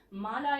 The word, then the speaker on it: MA: Mala is an MA in English. Again, M is pronounced as EMM. So E has got a vowel sound.